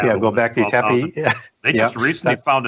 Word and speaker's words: Göbekli Tepe: one over in Turkey, Global Tepe, and I know I butchered that. Göbekli Tepe, yeah. Göbekli Tepe.